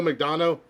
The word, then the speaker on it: McDonough: Neil McDonough. Donald. It's spelled different. It's not McDonald, but he was in Justified as well.